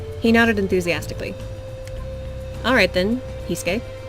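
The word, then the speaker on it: Heisuke: Pretend that the U isn't there. Hisuke?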